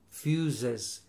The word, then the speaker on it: fuses: view my fuses and this is fuses like excuses the same yes fuses excuses extra syllable extra syllable I guess I'm just